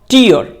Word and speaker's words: tear: अगर ये नाउन है तो इसका करेक्ट प्रोनाउंसिएशन होगा टीयर, मींस आंसू।